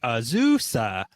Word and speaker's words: Azusa: Someone commented on something that we posted explaining the proper way to say it is like an old bicycle, like Azusa.